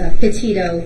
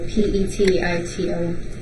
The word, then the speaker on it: Petito: Can you pronounce her last name for us? Sure. It's Petito, P-E-T-I-T-O.